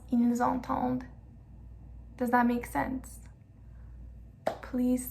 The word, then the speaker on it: entendent: We pronounce the S at the end of ils and elles just because entend comes right after it. It's ils entendent, elles entendent. We're going to hear the D this time because we have ENT at the end. We don't pronounce the ENT. It's not ils entendent, don't. No, it's just ils entendent.